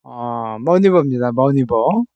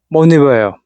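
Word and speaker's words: maneuver: 자, 노스 밀리터리, 머니어, 머니버입니다. 머니버예요, 발음이.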